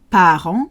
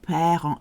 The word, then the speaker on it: parents: And be careful with the pronunciation of parents. A lot of people say parents. It is papa, papa, papa, papa, papa, papa, papa, parents.